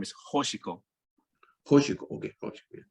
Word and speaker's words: Hoshiko: But by the way, her name is Hoshiko. Hoshiko, okay, Hoshiko. Yeah. Right. Yeah, and I know it's difficult to say a name, beginning with a sound, but yeah, Hoshiko, Star Child.